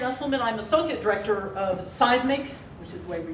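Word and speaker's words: CEISMC: I'm Associate Director of Seismic, which is the way we pronounce our Center for Education Integrating Math, Science, and Computing.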